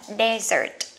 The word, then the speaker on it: desert: Vậy các bạn nhớ nha, sa mạc một chữ S sẽ đọc là desert. Còn món tráng miệng của mình hai chữ S, cái này sẽ đọc là dessert.